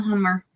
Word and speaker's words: hummer: Well, we pronounce it a bit differently. It's hummer, but it's the same word. But it's lobster. Lobster. Yes. It is Wow. lobster. Yep. And you pronounce it how? Hummer. Huma. Hummer. Humad. Hummer. Humad. It's the R on the end. Like humming, but hummer. Hummer. But it sounds like a D.